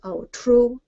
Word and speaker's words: Aotrou: Now with Aotrou and Itroun, I'm not terribly up on Breton pronunciation, but I believe that it has the accent on the second syllable. So it's Aotrou and Itroun.